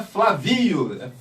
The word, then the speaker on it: Flávio: lembro dela falando assim seu nome não é Flávio Flávio porque a primeira sílaba é forte Então tem que ter assento aí a daquela bagaça